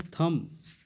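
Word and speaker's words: thumb: हम नहीं कहते हैं यह थंब नहीं पड़ते हैं इसको ठीक है यह गलत है इसको हम लोग कहेंगे थम क्या कि थम थम थम थम ठीक है बीच-बीच में भी साइलेंट हो जाएगा ठीक है समझ में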